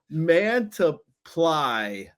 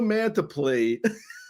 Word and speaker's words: Mantiply: It says it says um Joe Mantly. Uh and I could have sworn it was Joe Mantiply. And I'm like it says ply on the pronunciation guide.